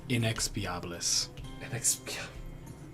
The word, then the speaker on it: inexpiabilis: It's pronounced inexpiabilis. Spanish, isn't it? Latin. Damn it. It was like, it sounds Latin It's, root, but I couldn't say for certain.